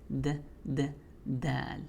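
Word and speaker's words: دال: In my opinion, it's a little softer than d, but it's dal.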